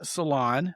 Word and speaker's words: Salaun: My guest today is named Lauren Salaun. It's not spelled S-A-L-O-N, but it is pronounced that way.